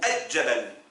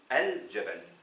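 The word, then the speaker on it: الجبل: Est-ce qu'on dit al-jabal ou ad-jabal? On dit al-jabal.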